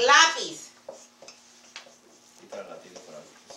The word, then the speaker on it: lápiz: But it's not lápiz. It's lápiz. Okay? That makes the emphasis in the word. Okay? In the syllable.